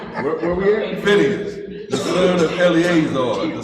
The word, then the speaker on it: Phinehas: And when Phinehas, I pronounce it the same way. Phineas.